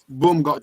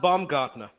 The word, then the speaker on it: Baumgartner: Boom got. Try and pronounce it. Yeah, Boom got no. Yeah, just give him his first name, man. That's all we need. Oh, it's actually pronounced Baumgartner.